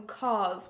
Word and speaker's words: COS: It's from COS. Whenever I say that, people are like, what store do you mean? It's spelled C-O-S, and it's also part of H&M.